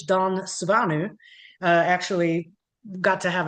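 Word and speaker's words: Dan Swanö: that Dan or or as it's pronounced in Swedish, Don Suanu, uh actually got to have a hand in.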